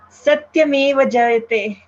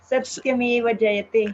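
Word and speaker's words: सत्यमेव जयते: Satyameva Jayate. Satyameva Jayate. Yeah, there it is. You're well noticed, Mariano. There is a slight lengthening of that T.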